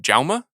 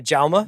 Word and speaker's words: Jaume: I know someone who's worked with him and he calls him Jaume. Oh, okay, Jaume. Which is news to me because I once interviewed the man and I called him Yaum through the entire interview and he did not correct me.